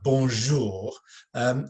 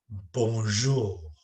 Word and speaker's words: bonjour: so when we say bonjour it's important that we you pronounce the the Jade in that word G in French the the J in a soft way because I've heard lots